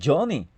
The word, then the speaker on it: Johnny: una I cuando usted escribe honi no es honi sino Johnny cuando usted escribe también